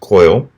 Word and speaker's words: choil: because this one has what's called a choil or also occasionally pronounced coil it's also been called